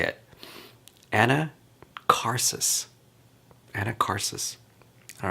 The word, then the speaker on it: Anacharsis: Anacharsis. Maybe that's how you say it. Anacharsis.